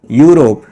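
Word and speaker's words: Europe: अब देखो यहाँ पर इसका प्रोनाउंसिएशन क्या होता है, यूरोप।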